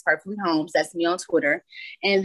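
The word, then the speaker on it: Perfektly Holms: so um on um Twitter my name is perfectly homes spelled the same way with the um with a and then homes perfectly homes that'me on Twitter and then I also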